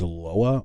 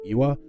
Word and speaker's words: Loa: looked it up and turns out it actually is LOA I've been pronouncing pronouncing it this entire time through my research as iwa I think iwa sounds